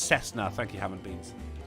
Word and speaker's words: Cessna: Oh, it's pronounced Cessna. Thank you, Ham and Beans. Moving on. Oh. Yes, I know what a Cessna is, not a Kessna.